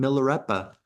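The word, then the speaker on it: Milarepa: syllables all excuse me all of the vowels are soft as opposed to long it's not my Rapa it's Milla repa millera so there's that and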